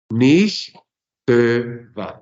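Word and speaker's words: נִכְתְּבָה: Los Sheva resultantes, el primero es mudo, el segundo es móvil, se pronuncia, entonces no está afectado por la primera ley que habíamos estudiado en el hebreo. Entonces, ¿cómo decimos esta forma? ¿Cómo la pronunciamos? Nicht va, nicht va, nicht va.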